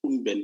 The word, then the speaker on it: Unben: So he is Unben, but you can correct me if I pronounce the name very well. Over to you, Doc. Thank you, Foster. No, the pronunciation is perfect. It's Unben.